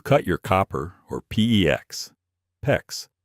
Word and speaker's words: PEX: PEX rhymes with flex pipe with a tubing cutter, or worse, a hacksaw.